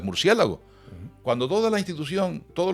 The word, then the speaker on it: murciélago: Y cuando toda la institución decide que aquello es un murciélago y no un murciégalo, que es como tendría que haber sido, que esa es la forma etimológica, pues tenemos que aceptar que lo correcto es murciélago.